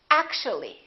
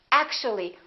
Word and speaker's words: actually: and we say basically take a look at this one actual three syllables actual but if we add the ly like here this disappears and we say actually actually we don't say actually there are some more